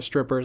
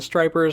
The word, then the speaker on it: Stripers: I believe it is the Stripers. It is spelled S T R I P E R S. So I don't think they're the Strippers. I think they're the Stripers.